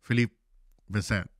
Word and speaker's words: Philippe Vincent: We have Philippe Vincent, or as he told me to call him Phil, because the proper pronunciation is in French, which is Philippe Vincent.